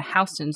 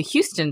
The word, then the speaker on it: Houston: around hon Street and I was asking my co-workers are we going to Houston Street because that's how it's spelled they were like you mean H Street and I was like why are you looking at me like this the rest of the country pronounces it one way I just don't know